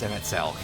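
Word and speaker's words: Emet-Selch: to ourselves hey are we going to get emmett celch on this uh pardon me is his name is pronounced msl it's not can we get you know can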